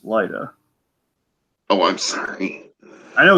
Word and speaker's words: Lyda: It's just it reads like Lydia, and I know it's like what it says on there, but it's pronounced Lyda.